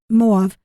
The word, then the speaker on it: Moab: passages that indicate that it moav will be M Moab Moab we pronounce it usually will be spared for